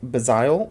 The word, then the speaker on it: Bgztl: She hails from the planet Bazile, is how I say it, but it is spelled BGZTL.